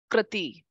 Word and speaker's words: prakriti: Prakriti. Prakriti. Not prakriti. Not prakriti. Narayan. Na. Ra. You know. There is no syllable stress.